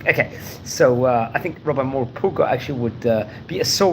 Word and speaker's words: Morpurgo: various occasions before, Rabbi Samson ben Joshua Moses Morpurgo. That's how to pronounce his English name.